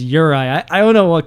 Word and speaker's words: Juraj: Now, Urai, uh, his name, by the way, is spelled J U R A J. So, if they did not pronounce his name when he was introduced, I would have been saying Juraj like the uncultured swine that I am, but no, his name is Urai.